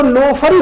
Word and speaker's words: NOFRI: इसको आप देख रहे, लिखा है NOFRI, जिसको अगर आप प्रोनाउंस उच्चारण करें तो नोफरी होगा।